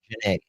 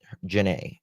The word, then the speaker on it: Janae: Do you pronounce it Janie or Janane? Janae. Janae is how you pronounce it.